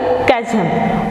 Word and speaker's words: chasm: To a chasm, we have to pronounce here chasm.